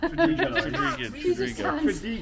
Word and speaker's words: Tredegar: Tredegar. I can't pronounce it. You can't pronounce it. Tredegar. Tredegar. It's not cha, it's ta. Tredegar.